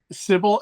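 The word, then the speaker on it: Sybil: How do you pronounce that? Sibil.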